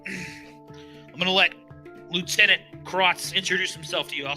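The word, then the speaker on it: Crotz: I thought you said Crux the first time. That's what I'm making sure. I'm sorry, it's Krotz. I'm sorry, it's Krotz.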